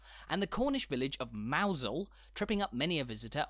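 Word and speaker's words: Mousehole: basic vowel sounds, and the Cornish village of Mousel tripping up many a visitor on their way.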